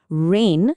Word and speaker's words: reign: উচ্চারণ প্রায় এক। কিন্তু মানে আর বানান দুটোই আলাদা। রেন যেটাতে জি আছে সেটার মানে হলো শাসন।